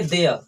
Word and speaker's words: there: देखो यहाँ जो RE है इसको हमको आधा बोलना है, यानी कहने का मतलब है कोई भी ऐसा लेटर या कोई भी ऐसा वर्ड जिसमें लास्ट में RE आता है उसको हमको पूरा प्रोनाउंसिएशन नहीं करना है, तो इसको बोलेंगे देयर। क्या बोलेंगे? देयर। ठीक है, शुद्ध लैंग्वेज में देयर नहीं बोलना है, देयर।